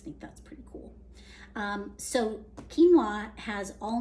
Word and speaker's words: quinoa: So the very first one is actually an ancient grain, and it's called quinoa. It looks like quinoa, but that's not how you say it.